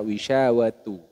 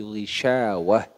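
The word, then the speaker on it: غشاوة: di sini teman-teman ini jangan dibaca wisyawatu tapi gisyawah ya jadi diganti ha ketika dia Ta ini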